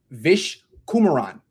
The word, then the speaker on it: Vish Kumaran: I'm back with Vish Kumaran. I pronounced it right?